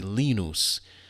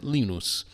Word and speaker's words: Linus: Linus from Peanuts, but here we pronounce it Lenos.